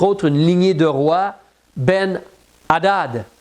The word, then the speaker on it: Ben Hadad: y a entre autres une lignée de roi, Ben Hadad, H A D A D. Ben Hadad, si tu veux le prononcer comme cela.